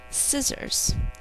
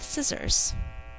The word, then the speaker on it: scissors: Scissors. I can cut paper with scissors. Two syllables, think to spell S, I, Z, Z, or Z. All of the Z sounds in this word are second sound S's.